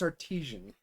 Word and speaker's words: Artesian: you have your glasses it's not Artisan it's Artesian Goose there's not an e